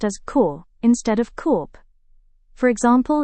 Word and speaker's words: corps: Well, P is silent in many French origin words.